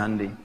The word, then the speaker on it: Hyundai: Hyundai bacanya Hyundai.